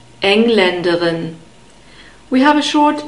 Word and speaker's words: Engländerin: Here we have the stress on the first syllable, Engländerin.